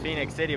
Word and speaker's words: Phenix City: laugh at so it's Phoenix City but it's not spelled Phoenix like Phoenix Arizon they I don't know how that happened it's Phoenix without the O anyway it's our first